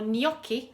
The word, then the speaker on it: gnocchi: top as well so no key or gnocchi how it's pronounced is a type of